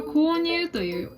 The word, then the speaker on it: 購入: We can read this "購入 Kounyu”.